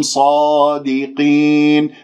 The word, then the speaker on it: صادقين: كنتم صادقين، الصاد مفخمة مرتبة أولى لأنها مفتوحة بعدها ألف، ولا تكوير للشفاه، أرجوكم لا تكوير للشفاه، لا تقول صو صو، خاصة خاصة حرف الصاد صو خطأ، ص صادقين.